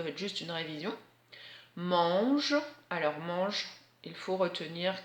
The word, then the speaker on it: mange: Mange, donc comme dans éléphant en fait, voilà. L'éléphant il mange, donc il a le même AN. Mange avec le G et pas le J de l'herbe.